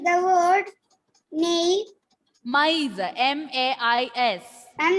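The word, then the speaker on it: maïs: Maize. R sound is also should be clearly audible, and E sound should also be clearly audible. Maize. Maize.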